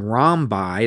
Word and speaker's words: rhombi: The title of this is called Rhombi. That's how you pronounce that, rhombi, and squares.